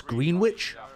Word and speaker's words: Greenwich: quite quick I didn't know that's how you pronounce green witch it's it's interchangeable the the the thing is